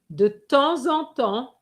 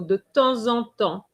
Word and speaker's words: de temps en temps: Et arrivent and faith de temps en temps. Okay, the P silent, the S is silent.